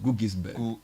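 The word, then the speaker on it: Guggisberg: I'm told it's pronounced Gugisberg.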